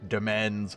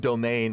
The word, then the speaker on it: demesne: The first laws created a new black demens, which is apparently pronounced domain, but I could have sworn demens was his own word.